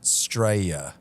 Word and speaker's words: Straya: And we just learned that they pronounce it Straya. Straya. Straya. That's how they say Australia over there.